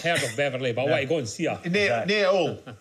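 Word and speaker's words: Hull: Beverly go see near all all pronounce pronounce without H not all all of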